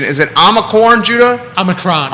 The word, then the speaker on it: Omicron: If hold on, I got to get the pronunciation. Is it Omicron, Judah? Omicron. Omicron.